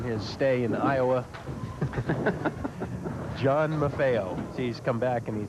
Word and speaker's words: Maffeo: about the fact that his kids like it when the name is pronounced MAFO of course we've always pronounced it mafio as as as everyone